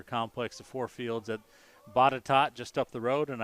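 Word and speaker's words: Botetourt: the four fields that bottatot just up the road and i know it looks like bow to torque but it's definitely pronounced botticott as i've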